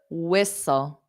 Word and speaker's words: whistle: we got one so what's the silent letter whistle whistle whistle and yes George got it castle castle very nice so you don't hear those t's so whistle s so you just imagine the T's not there so it goes